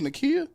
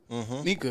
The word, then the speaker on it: Nika: What I say her name was Nakia? Nika.